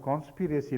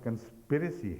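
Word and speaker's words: conspiracy: ہے، میں جانتی ہوں، مگر آپ نے کانسپیریسی لفظ بولا تھا ایک جگہ، تو یہ درست نہیں ہے. یہ لفظ کنسپیریسی ہے، تو یہ درست ہے ان کی بات.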